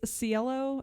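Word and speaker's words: Cielo: home once the family members arrived at Tate's cello drive home I finally pronounce there correctly Watson snuck in through a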